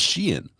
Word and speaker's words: Skien: Like it's pronounced Skien.